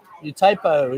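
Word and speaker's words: U-Tapao: Utapo is a fine airport, easy to get to Pat's.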